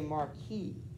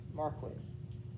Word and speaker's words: marquis: purposely french words like i think normally we would say marquis right m-a-r-q-u-i-s but the english you'll hear it in movies when they do it they'll say marquis marquez um i'm not i just don't think that's how the french pronounce it i think the english